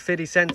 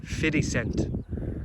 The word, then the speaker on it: 50 Cent: Get rich or die trying, isn't that what 50 Cent said?